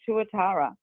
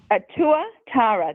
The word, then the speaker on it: tuatara: in New Zealand called the tuatara.